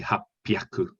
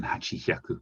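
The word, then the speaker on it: 八百: Hachihonme is sometimes pronounced as happonme, and we would say hapyaku, hapyaku with a plosive p, hapyaku, rather than hachihyaku.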